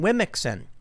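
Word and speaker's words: womxn: e so it's pronounced they say it's pronounced like woman but come on let's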